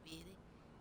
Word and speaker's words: vidi: I take Latin, so the V's are pronounced as W, so it's Vidi, Vidi, Vidi, Vidi.